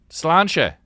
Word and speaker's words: Sláinte: Sláinte.